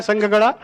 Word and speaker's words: ಸಂಘ: ಮಹಿಳಾ ಸ್ವಸಹಾಯ ಸಂಘ ಸಂಘ ಸಂಘ ಅಂತಂದ್ರೆ ಅಲ್ಲಿ ಮಹಾಪ್ರಾಣ ಸಂಘ ಅಂದಬಿಟ್ಟು ಸಂಘ ಹೇಳಿದ್ರೆ ಆದರೆ ಆ ಮಂತ್ರಿಗಳಿಗೆ